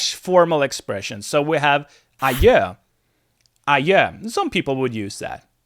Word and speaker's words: adjö: So we have adjö. Some people would use that, I guess. Adjö. And the D is silent here. The D is silent. It's the same as adieu or adios, whatever.